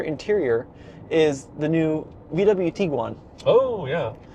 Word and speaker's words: Tiguan: is the new VW Tiguan. Oh, yeah. How come you're saying Tiguan? It's That's Tiguan. how the Germans say it. All of the product people said Tiguan. It's tiger and iguana.